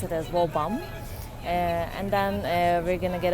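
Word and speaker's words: Woburn: to wall bomb whole burn actually but they pronounce it as well bomb and then we're gonna get off in Clark's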